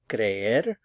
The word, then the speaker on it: cree: Again, two syllables, stress on the cre. Cree, cree. He believes, él cree.